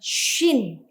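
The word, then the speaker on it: שׁ: Nah, Yang di kiri bacanya sin, ya. Yang di kanan bacanya shin, ya.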